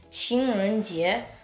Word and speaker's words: 情人节: Now, people in China call Valentine's Day 情人节, which literally means day for the lover.